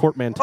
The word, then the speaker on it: portmanteau: And it's pronounced portmanteau.